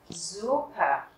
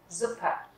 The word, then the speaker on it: Suppe: Bởi vì âm u đứng trước hai phụ âm kép. Những nguyên âm đứng trước hai phụ âm kép thì các bạn sẽ đọc ngắn nó lại. Mình không đọc là Suppe mà mình đọc là Suppe, die Suppe.